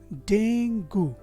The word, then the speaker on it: Dengue: अब बचा UE। जो UE लेटर से क्लस्टर है वो अक्सर आपको कई कॉमन वर्ड्स हैं इंग्लिश के जिसके एंड में मिल जाएगा। जैसे यहाँ पे वर्ड है argue, rescue, value, issue and statue. तो ये UE का जो साउंड है ऊ वो हमने यहाँ से ले लिया। तो अब हो गया ये डेंगू, जो इस शब्द का सही प्रोनाउंसिएशन नहीं है।